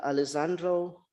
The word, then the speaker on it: Alessandro: we're going to introduced the first speaker Dr Alessandro masses and I think I pronounced his name right all the way from